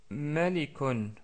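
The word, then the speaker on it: مَلِكٌ: qui est le mot malikon malikon ou Malik tout coup ce motl commence par ma ma marqué ici en rouge c'est une lettre très facile à prononcer donc c'est ma qui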